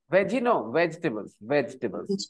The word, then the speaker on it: vegetables: Vegetables. E is silent.